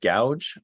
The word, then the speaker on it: Gauge: Is that pronounced gouge? I think it's Gauge.